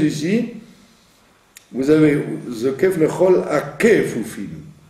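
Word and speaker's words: כפופים: Il ne faut pas dire Vezokef lechol akfufim. Akefufim. Puisqu'il est au début d'une syllabe, A étant une première syllabe, Kefufim, vous avez 3 syllabes, d'accord? A, Kefufim, vous avez 4 syllabes.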